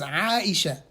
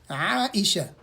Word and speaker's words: Aisha: of the believers, then the correct way to say it is Aisha. Aisha. Aisha.